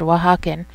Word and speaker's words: Oaxacan: Sorry, Oaxacan Spice. Yeah, that's how you pronounce that word, Oaxacan.